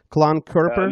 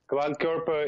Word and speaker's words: Klankkörper: participated there was a Klank Kerper, and you please correct me if I'm not pronouncing it correctly. Klank Kerper? No. Klankkörper is it's just a German, also German title.